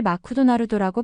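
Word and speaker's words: マクドナルド: 대표적인 예로 일본에서는 맥도날드를 마쿠도나루도라고 발음합니다. 원래 영어 단어에 없는 무음을 억지로 넣어서 일본어의 음절 구조에 맞추는 식인데 이것이 영어 발음을 이상하게 만드는 주된 이유라는 것을 알게 되었습니다. 영어의 믹소리는 짧고 간결하지만 일본어로는 마쿠라는 새 음절로 늘어나는 거죠.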